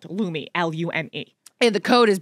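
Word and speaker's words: Lume: Wow, that's spelled L-U-M-E because it's a little confusing with how you say it and how it's spelled. Lumi, L-U-M-E.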